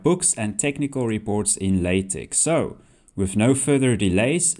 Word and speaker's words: LaTeX: This software is pronounced LaTeX, not LaTeX, as you might initially think.